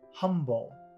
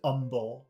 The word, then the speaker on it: humble: my mother, we're so humble. The word is humble, like we're very simple. He says humble because he doesn't pronounce the H in humble.